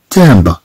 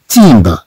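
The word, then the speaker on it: timbre: قبل الانتقال إلى هذه الكلمات، أحب أن أذكر هنا بأن كلمة تامبر نقرأها تامبر ولا نقرأها تيمبر.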